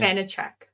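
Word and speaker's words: Vaníček: Vanacek.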